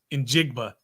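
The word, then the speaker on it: Njigba: Jackson and yeah yeah you want to be careful with his last name so yeah in jigba I think is how you pronounce it but yeah so so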